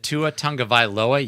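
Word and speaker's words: Tagovailoa: with tyree kill do we really think that tuatanga viloa yes i actually pronounced his name correctly do we really think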